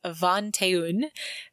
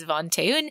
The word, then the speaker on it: vingt-et-un: And that card game that he was playing is French, and it isn't pronounced the way that it looks on the page, but it's Vingt-et-un or something like that.